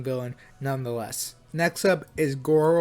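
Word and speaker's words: Garou: Next up is Goro or Garu. I think it's pronounced Garu.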